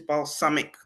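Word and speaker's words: Balsamiq: be using which is balsamic. I know there's balsamic vinegar. It's pronounced the same way, but it's not spelled the same way.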